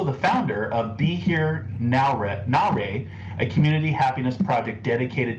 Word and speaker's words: Nowra: And am I pronouncing the town right? Is it Nowra or Nowra? It's Nowra.